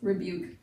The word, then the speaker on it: rebuke: And that's whenever there's no emphasis placed there, so it doesn't really take its eh or long E sound. It's just rebuke. Buke, long U, but the U is long because there's a silent E here, and I know you've learned all about silent E's, so I won't take too much time to talk about that.